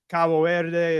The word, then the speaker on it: Cabo Verde: You have kind of the textbook track, which are those Cape Verde storms, or Cabo Verde, if you want to be more with the Portuguese pronunciation.